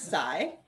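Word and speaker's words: psi: you going to give the lecture on greek pronunciation sure yeah it's psy it scatters at the angle okay and then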